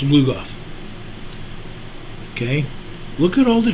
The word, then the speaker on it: Lugoff: Now, for those of you that live in South Carolina, you saw that earthquake over near Lugoff, South Carolina.